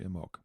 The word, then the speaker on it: Imbolc: years ago about it, and I liked their pronunciation of it, which was simply Imbolc.